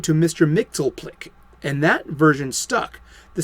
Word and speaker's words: Mxyzptlk: This visitor from another realm was originally known as Mr. Mxyzptlk. 4 syllables. Remember that. But an editorial slip changed the name to Mr. Mxyzptlk, and that version stuck.